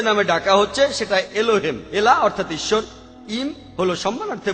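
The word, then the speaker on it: Elah: একমত উচ্চারণে কিছুটা পার্থক্য তারা বলে আলা আমরা বলি আল্লাহ উচ্চারণ কিছুটা আলাদা তবে শব্দ দুটো একই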